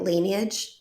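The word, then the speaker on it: Laneige: in place number four I'm not sure how you say it lineage L Lage oh like Lan or something like that yeah I think it is Lage L the lip sleeping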